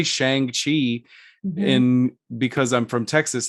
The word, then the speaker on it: Shang-Chi: of because we like i say i say shang chi in because i'm from texas and that's just the way that like i pronounce things and i have to be deliberate